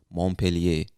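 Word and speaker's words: Montpelier: of this state is montpellier now i believe that's the english-speaking pronunciation of the word but this word looks french to me so you some people from vermont might say montpellier i don't know i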